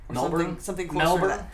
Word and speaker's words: Melbourne: yeah Emil b-o-u-r-n-e Melbourne I don't think they pronounce the R I think it's Melbourne melber Melbourne Melbourne like they don't pronounce the r it's not born I'm about seven and